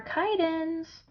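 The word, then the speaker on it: chiton: oh and don't forget our kite ends again that's spelled c-h-i-t-o-n that one's felt a little different too isn't it and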